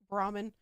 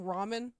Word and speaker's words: Brahmin: Brahmin. Why does it look... Is it pronounced like ramen? No, it's Brahmin.